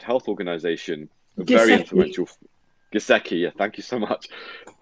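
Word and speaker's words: Giesecke: was Johan Gazai, I don't know how to pronounce his surname, Gazai, who is advises the World Health Organization, a very influential. Giseki, yeah, thank you so much.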